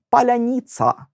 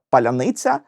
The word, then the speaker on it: паляниця: твердих і м'яких приголосних спробуйте повільно вимовити паляниця відчуваєте на складі ни ваш язик і вся нижня щелепа опускається А на ця все це треба швиденько підняти назад язик має зробити такий собі кульбітик якого немає Якщо ви русня і вимовляєте паляніц ца на ні язик залишається в тій же позиції і цей кульбітик неможливо